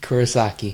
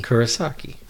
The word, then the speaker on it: Kurosaki: is that how you say it Rikuo sake Kurosaki Kurosaki I I was just waiting three continue home